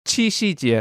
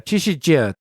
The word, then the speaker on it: Qi Xi Jie: How do you pronounce that thing? The ox and the girl. Xi Jinping holiday. Qi Xi Jie. Qi Xi Jie.